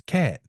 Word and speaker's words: Katt: by is cat now he spells it k a t t but I mean phonetically it's cat as in feline he is a Leo